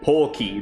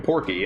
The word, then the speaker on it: Porky: Even though his canon name in Japan is Porky, the R isn't pronounced in Japanese. It is like Porky. That's how it's read out.